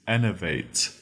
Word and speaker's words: enervate: Our third word is enervate. It's spelled E-N-E-R, V-A-T-E, vate, enervate.